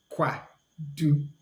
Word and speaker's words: kwadu: Then we have kwadu, kwadu. So pronounce it together. Kwadu, kwadu. And kwadu means banana. Kwadu, kwadu.